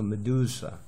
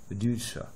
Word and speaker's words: Medusa: I를 대문자 같이 생겼는데 소문자 크기로 쓰는 거는 영어 발음 중에 제일 편한 발음이에요. 미도, 이도 아니고 어도 아니고 우도 아니고 그냥 가장 편하게 하는 거야. 그래서 Medusa 여기에 들어갔으니까 요거는 높여야죠. Medusa 이렇게.